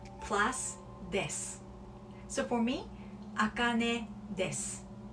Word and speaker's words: です: You see D-E-S-U, D-E-S-U, des.